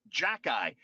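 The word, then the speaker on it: Xhekaj: jack guy you know how you spell this guy's name i have to write it down x-h-e-k-a-j and apparently it's pronounced jack-ey this guy this guy arbor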